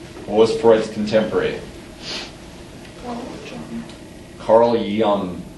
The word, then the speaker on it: Jung: Carl Jung. It's German. It's German, so you usually hear it pronounced like young with She a.